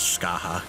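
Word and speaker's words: Scathach: like get fat though the only time I've ever actually heard it pronounced was Skaha what because it's like Gaelic or Irish or some [ __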